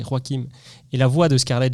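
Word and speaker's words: Joaquin: Parce que oui, il faut prononcer Roakim et la voix de Scarlett Johanson dans le film Her ou elle.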